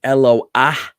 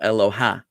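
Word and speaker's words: אלוה: This is pronounced Eloah. Some people don't realize that. They look at this word and they go Eloha because they see a hey with a patach underneath it.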